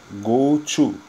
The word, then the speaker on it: GOTO: que determina o salto é gosto pronuncia Goto do inglês ir para lá para